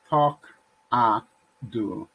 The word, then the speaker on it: Talkado: guess starting with the name how do you pronounce it tocado and why the name takado yay is talk ah do it means talk ah dude whatever it says